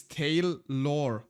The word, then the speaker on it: Taleor: Um I I also seen like a bunch of people having trouble pronouncing my last name. Um it's tail lore.